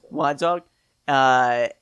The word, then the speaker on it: Wantagh: Yeah, it's a silent G.